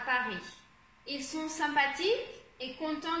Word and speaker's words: Paris: Par exemple, ici on dit Paris, on ne va pas dire le S.